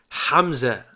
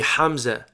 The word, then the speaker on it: Hamza: it would be pronounced hamza hamza ha is our strong h and then ha is our h like in english the weaker h so it would be hamza and uh hamza is